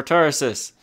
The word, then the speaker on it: Tarsus: for Tarsus forces for Tarsus for terraces for Tarsus I'm saying it I'm saying it right I